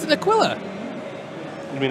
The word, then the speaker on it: Aquila: It's an Aquila. You mean Aquila? It's pronounced Aquila.